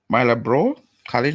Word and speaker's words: Marlborough College: He was educated at Mona Prep, Campion College, Marlborough College, that's how you pronounce that, Oxford University, and the University College of London.